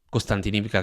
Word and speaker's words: Kostiantynivka: Pogrovsk, Kramatorsk, Sloviansk , Constantinka che è scomparsa o Constantinovka, a seconda di chi la pronuncia.